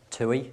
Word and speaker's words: TUI: tui now seeing as thompson has changed to tui if you don't if you don't know us well i've already said it tui is how you pronounce it and the palm trees in the